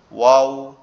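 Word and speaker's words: واو: বলে আবদার করে ঠোট দুইটা ঠিক এরকম ভাবে উচ্চারণ হবে একটু গোল ওয়া ওয়াও ওয়াও ওয়াও ওয়াও ওয়াও ওয়াও বা আমরা হঠাৎ কোন সুন্দর একটা জিনিস দেখলে বলি না ওয়াও কি সুন্দর।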